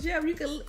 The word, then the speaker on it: Geoff: His name is pronounced Jeff.